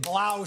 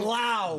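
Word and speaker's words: Blough: It is the David Blau show.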